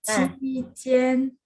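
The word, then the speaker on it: 期间: 齐天，七齐见，不是齐见，七 nada satu ya, jadi 期间。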